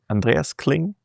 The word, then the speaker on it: Andreas Kling: Today I'm here with Andreas Andreas Clling. It's a very German name, so I tend to pronounce it very German.